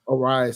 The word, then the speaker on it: Arraez: Arraez, sorry.